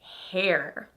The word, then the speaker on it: hair: But here at Go Natural English, I'm teaching you a standard American English, and we would say her hair. So hair is not typically using an R-colored vowel.